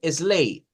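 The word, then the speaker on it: sleigh: vamos a ponerle acá la gh es muda o sea no suena eso significa que es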